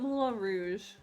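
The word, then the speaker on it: Moulin Rouge: dogs die check out Mula Rouge mul rou I've never seen this movie uh do you know how to spell it like Mulan like the Disney movie no m o u l i n m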